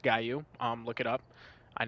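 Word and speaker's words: Gallu: The Gu, which it's I know it's pronounced Guaou. Um, look it up. I know it looks like Gallou, but it's the Guou.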